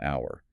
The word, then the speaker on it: hour: The tricky ones are words like hour or honest. They start with a consonant letter h, but the h is silent. So, the first sound is a vowel. Therefore, it's an hour.